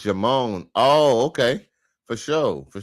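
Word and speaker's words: Djimon: And it might still be French, but the D is silent.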